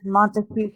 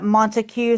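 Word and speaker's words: Montague: This Monteue County say uh Montue. Some people pronounce it Monte County. So it's M O N T A Gu. Yes. Okay. So yeah, guys, um Montigue.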